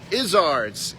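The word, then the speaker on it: Iszard's: I know it's not cuz that rhymes with lizards. Isizards is the proper pronunciation. Let me know if it's not.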